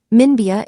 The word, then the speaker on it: Minbya: The 3 highways that do are the An to Munbra, Minbya in Burmese pronunciation, road in central Rakhine,